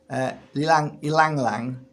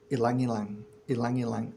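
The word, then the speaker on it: ylang-ylang: I could never pronounce it properly. Ilang ilang.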